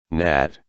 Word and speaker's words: gnat: silent letters and advanced gn equals slash n slash nat nash campaign lesson